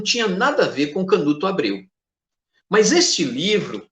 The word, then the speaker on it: Canut: Alexandre Canut, que em francês se pronuncia Alexander Cagny, professor em Paris.